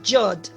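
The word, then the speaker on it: יוד: Yod, como si fuera una I, no Yod, aunque se escribe así, pero es Yod.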